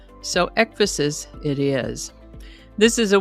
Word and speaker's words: ecphasis: I would have pronounced it efaces, but I found several pronunciation guides that indicated it is pronounced ephosis, sort of like emphasis, only with an e instead of an m. So, ephasis it is.